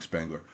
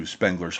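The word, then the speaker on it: Spengler: Awakening Spangler uh to and I'm aware it's pronounced Spangler by by the way. It's just I've gotten into the habit over the years of saying Spangler.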